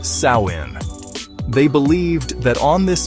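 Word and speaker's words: Samhain: The night before, October 31st, they celebrated a festival called Samhine, pronounced Sawin.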